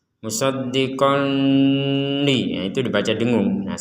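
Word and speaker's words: مُصَدِّقًا لِمَا: Di sini ada tanwin bertemu lam, maka kita membacanya dimasukkan. Jadi dimasukkan tanwin ini kepada huruf lam. Jadi tidak dibaca jelas ya. Kalau dibaca jelas itu musoddiqon li musoddiqon li jelas kalau dibaca dengung.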